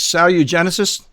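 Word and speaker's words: SaluGenecists: Now, I don't know how to pronounce it. It's Salugenesis?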